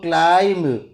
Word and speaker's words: climb: So climb, B will remain silent.